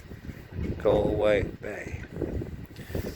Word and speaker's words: Galway Bay: Galway Bay, rhymes with lay, way, hey, Galway Bay.